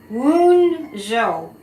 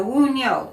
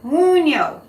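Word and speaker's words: Wunjo: It's pronounced Woon-jo. No, Woon-yo. Woon-yo.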